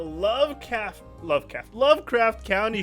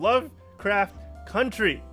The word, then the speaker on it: Lovecraft Country: looking to premiere really soon, just like the Lovecraft County show. Damn, I keep saying it wrong. Lovecraft Country.